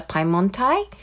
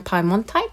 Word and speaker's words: Piemontite: has made me realize I've been calling this color Piemonte rather than PI Mon type so I apologize for all my previous videos we have been mispronouncing this color I love this color